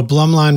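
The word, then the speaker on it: Blumlein: Oh, Blum line would be the two figure eights.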